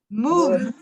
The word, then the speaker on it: moved: Por ejemplo, V, N, L, acaban con la pronunciación D, ¿ok? Por ejemplo, moved, cleaned, pulled. ¿Escuchan la D al final? O sea que como quien dice, la E es silenciosa.